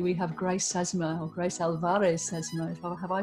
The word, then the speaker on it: Grace Alvarez Sesma: We have Grace Sesma, or Grace Alvarez Sesma. Have I pronounced that correctly, Grace?